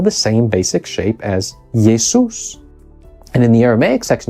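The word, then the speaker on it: Ἰησοῦς: of the names and in each case the name yesus or a variant yesos is in the Greek version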